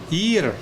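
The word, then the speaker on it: עיר: Ayin is silent. Ir.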